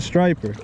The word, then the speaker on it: striper: yeah that's a sleeper it rhymes it rhymes with wiper it rhymes with wiper it's a striper it's a striper i'm